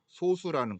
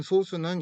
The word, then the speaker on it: 소수: 그러니까 중학교 때 배우는 이 소수는 조금 빨리 읽어야 돼. 소수 의미처럼. 그다음에 초등학교 때 지금 배우고 있는 소수는 좀 길게 소수 이렇게 약간 길게 약간 좀 차이가 있는데 중학교 때 배우는 소수는 약수가 2개인 자연수입니다.